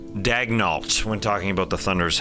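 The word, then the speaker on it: Daigneault: And remember, it's pronounced Daignault when talking about the Thunder's head coach, although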